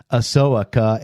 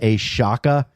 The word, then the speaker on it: Ahsoka: it isn't a show a pronounced a soaka and not a Shaka it's correct I think that's Ahsoka Ahsoka ass shoka soak